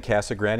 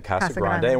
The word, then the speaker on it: Casa Grande: getting the emails absolutely Brian grew up and I grew up saying Casa Grande and you grew up saying Casa Grande we're all from the